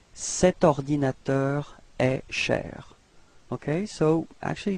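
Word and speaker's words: cet ordinateur: masculine so it's set all right so you pronounce it like set ordinator a share okay so actually no pose no break between the the set and ordinator all right right so let's repeat it together set ordinator a share okay and then last example okay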